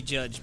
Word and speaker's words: Jydge: what it's called yeah with a why he pronounced it judge yeah I think what I think that's how I've been pronouncing it and like the it's jyd G yeah the way g-d's change now it's definitely supposed to be judged because like that pretty